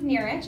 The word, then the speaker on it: Nerich: So my name is Nerich. It's pronounced like near being rich, which you really need to have to live in this fucking city.